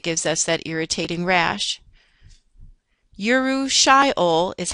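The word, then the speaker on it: urushiol: Yuru shyol is how you would pronounce the component and poison ivy.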